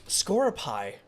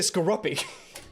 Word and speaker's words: Skorupi: Scoropie? That's how it's pronounced. I was gonna say Skorupi.